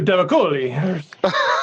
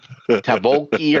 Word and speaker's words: Tavakoli: There's a little flair on that one, too, Tavakoli. Well, I kept on leaving out like a syllable, just going to Tavoki, or I don't know.